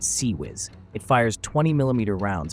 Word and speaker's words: CIWS: The failank's closein weapon system seis pronounced sea whiz.